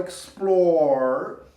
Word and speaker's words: explore: Quando terminou em E, reparem que o E a gente não pronuncia, a gente fala explore.